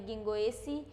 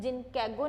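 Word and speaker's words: Ginkgo: क्या हो जाएगा, के बच्चों इसमें साइलेंट होता है, कभी भी जिन कैगो नहीं बोलते, गिंगो ही बोलते हैं, तो क्या हो जाएगा ये गिंगो।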